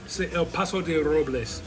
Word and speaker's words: El Paso de Robles: I'm not saying it right. El Paso de Robles.